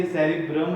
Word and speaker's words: cerebrum: Don't confuse between both, है ना, इनका जो प्रोनाउंसिएशन थोड़ा सा चेंज है. ये cerebrum है और ये cerebellum है. ठीक है, this is cerebellum and this is a cerebrum.